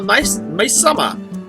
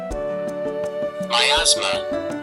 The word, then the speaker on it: miasma: Alright, we need to make sure we have a large enough scale to hold the Maisama.